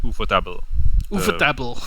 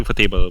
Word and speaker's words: ufotable: I would consider Ufotable.